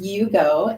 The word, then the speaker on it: Iugo: yeah right it yes it's so it is pronounced Yugo and um it means connecting connecting um just